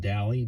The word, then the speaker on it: Daly: And then it's hooked here on the edge there, the little red part you see there is I think it's pronounced DALY, D-A-L-Y, BMS, battery management system.